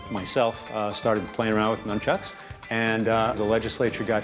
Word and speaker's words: nunchucks: constitutional grounds you made numchucks legal in new york well actually it's pronounced nunchucks right num chucks why